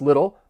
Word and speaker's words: little: For pronunciation, just keep in mind the word little, you're going to hear me pronounce those T's as a flap T.